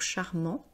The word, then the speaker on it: charmant: de ses qualités, donc charmant, Et encore une fois, vous voyez, on ne prononce pas le T parce que c'est un adjectif masculin.